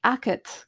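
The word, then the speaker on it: agad: a g a d it sounds like it's spelled a c a t but it's a g a d so both the g and the d have become unvoiced because they're not in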